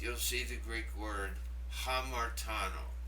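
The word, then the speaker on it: ἁμαρτάνω: Now, underneath you'll see the Greek word hamartano. Did you hear the HA sound at the beginning?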